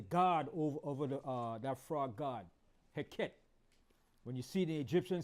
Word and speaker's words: Heket: So that frog god was a god named Heket. I'm going to spell it for you.